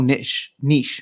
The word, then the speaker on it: niche: VR is still so niche, right? That's how you say it. Niche.